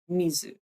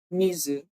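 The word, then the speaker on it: 水: in Japanese is Mizu so even though they are the same character they are pronounced differently so back in the day when Japanese people used the Chinese character for water um they probably be pronouncing it Mizu instead of because is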